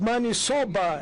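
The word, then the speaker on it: maniçoba: Maybe the best fish and do not forget to eat man sobba. the interpreter could interpret it correctly because it's money soba as you pronounce it a and there's a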